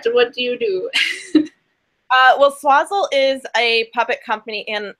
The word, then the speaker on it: Swazzle: Yeah, Swazzle. Okay. What can you tell us about working for, let's start with working for Swazzle. Like what is that? What do you do? Well, Swazzle is a puppet company in LA.